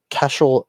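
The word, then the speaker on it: Caiseal: up we have uh Cashel beer and Spirits yes that's how you pronounce c a i s e a l casel uh they're they take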